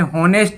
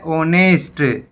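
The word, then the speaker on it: honest: तो ये शब्द आपने हमेशा पढ़े होंगे, इसको आपने होनेस्ट ही बोला होगा, लेकिन ये होता है ओनेस्ट, ओनेस्ट, ईमानदार। इसमें एच साइलेंट होता है।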